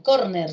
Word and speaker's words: córner: para decirme a ver con piel qué tal córner se lesionó o sean útiles gente que se